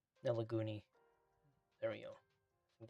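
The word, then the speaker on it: Nelagoney: Nelagari. Nelaguni. There we go. I think that's how it's spelled.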